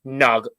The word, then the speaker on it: Nagy: It looks like it's Nagy, but he says it's Nug. It's really weird. It's just Nug.